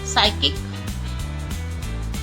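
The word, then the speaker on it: psychic: P silent first letter में ही साइकिक, साइकिक, psychology, psychology. Pneumonia, pneumonia, इनमें सब में पी साइलेंट है।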